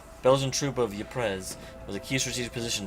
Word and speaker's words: Ypres: Ypres, a town in ruin. Dubbed Wipers by British troops due to its difficult pronunciation, Belgian troop of Ypres was a key strategic